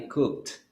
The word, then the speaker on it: cooked: Yes, you pronounce it with T at the end. I cooked.